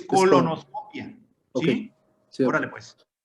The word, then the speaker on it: colonoscopia: es que no lleva acento en la I, ¿eh? No se dice colonoscopía, es colonoscopia.